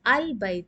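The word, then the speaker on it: البيت: You will pronounce as Al-Bayt, because Ba is from Qamariya, moon letters. Fil Bayt. So know that, very important point, when it is from the Qamariya letters, the Lam will be pronounced. So from Fi, you will directly go to Lam. Fil Bayti. The Ba is pronounced. The Lam is pronounced in case of Qamariya letters.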